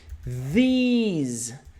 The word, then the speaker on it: these: Muita gente erra a pronúncia dessa palavrinha. A gente tem this no singular. Comigo, this. Lembra do Zeca, língua presa? This. This, this, this. E a gente tem o plural. These, these, these, these.